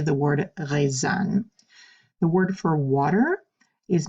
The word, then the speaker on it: eau: any of those sounds pronounce this as if it was one giant letter o you pronounce EA you